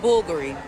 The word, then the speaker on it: Bulgari: This is pronounced Bulgari. Act like Bulgari. I love saying it like that. I'm sorry. Bulgari. It's such a cool brand name. there's a U there. Remember, it's an Italian brand, not French.